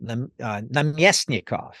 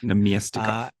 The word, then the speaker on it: Namestnikov: Example: Namestnikov. Namestnikov. Okay. That's actually a slightly different one. That's the middle syllable, but most of them are the second to last.